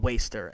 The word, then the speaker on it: WSTR: So the first one for me is called Waster, and it's spelled WSTR in all caps. Waster, it's meant so you take out the A and you take out the E.